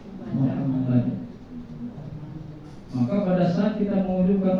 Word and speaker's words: Muhammad: Jadi bacanya Muham Muhammad.